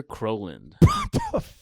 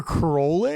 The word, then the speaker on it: Crowland: Brother Crowlin. BROTHERCROWLIN. Oh no! Land. Land. Crowland, but it's Crowland.